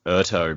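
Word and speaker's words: Urteau: i should pronounce it obviously it was like urto because like the end looks like plateau yeah like a plateau that's a good point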